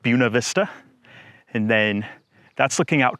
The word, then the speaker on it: Buena Vista: it's Buena Vista Virginia I would pronounce it Buena Vista but the locals call it Buena Vista and then that's looking